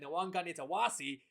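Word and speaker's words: Nawaqanitawase: And going to the last 2 spot now, Mark Nwankani-Tawasi. Yes, that's how you pronounce his last name, Nwankani-Tawasi.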